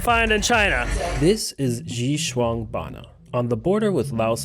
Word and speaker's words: Xishuangbanna: Even my taxi driver had to teach me how to pronounce the name. Xishuangbanna. Xishuangbanna. Xishuangbanna.